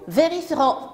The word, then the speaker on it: vérifierons: ne le prononce pas nous vérifierons nous vérifierons le eux ne se prononcent pas vous oublierez le e